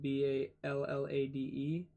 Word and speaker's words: ballade: Ballad is spelled B-A-L-L-A-D-E.